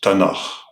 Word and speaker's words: Tanakh: of the Hebrew Bible: the Torah of Moses, T, the prophets, Nevi'im, N, and the writings, Ketuvim, K, pronounced as Tanakh.